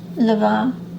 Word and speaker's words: Levain: It's pronounced Levain, but it's spelled Levain.